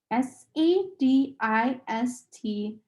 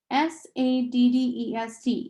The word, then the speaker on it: sadist: That's SADIST, not SADDEST, you know? Charles Wallace said and giggled again. Lots of people don't pronounce it correctly.